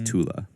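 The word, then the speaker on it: Thule: So it's pronounced very softly like the a in sofa. So yeah, it is tula.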